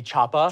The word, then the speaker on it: choppah: Well, I'm looking at his page, and he's written chopper, which is clearly not how it is said in the movie. It should be choppah. Choppah. Choppah. Yeah, yeah. Choppah. It's not. It's absolutely choppah? Phonetically written out. Like he's from Maine. C-H-O-P-P-A-H. It's actually choppah.